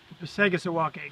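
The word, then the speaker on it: Passagassawakeag: Do you know how to pronounce it? Passagassawakeg.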